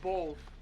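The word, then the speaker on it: Boll: a leather face okay no bold that's how you say his name b o l l just pronunciation well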